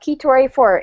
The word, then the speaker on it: Kheetor84: Look up Keytor84. It is spelled Kheetor84. And if anybody wants to know, yes, it is based off the Transformer Keytor. Just with a K.